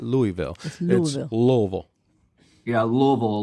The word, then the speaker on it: Louisville: said it right cuz it's not Louisville Louisville Louisville yeah Louisville like just think l v Louisville